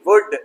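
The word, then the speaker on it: would: वुल्ड नहीं, वुड, L silent सका पाया। फॉक, लोकगीत, है ना, फॉक, एफ ओ के फॉक, एल साइलेंट फॉक, लोकगीत।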